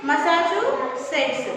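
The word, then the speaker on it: Massachusetts: ये अंग्रेजी शहर के नाम पढ़ने में बहुत अजीब से लगते हैं ना बच्चों, तो इसका प्रोनाउंसिएशन उच्चारण देखिए क्या है, मसाचुसेट्स।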